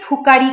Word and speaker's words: ফুকারি: ফুকারি কয় ফু, ফু, এই যে আমরা ফটা যে উচ্চারণ করছি এখন এখানে যদি আমি উচ্চারণ করি ভুকারি ফুকারি কয়, এখানে কিন্তু হবে না, ভুকারি ফুকারি না, একদম ঠোঁট দুটো আমাদের এই ঠোঁট দুটো লাগবে একসাথে, ভুখারি ফুকারি কয়, ফুকারি ফুকারি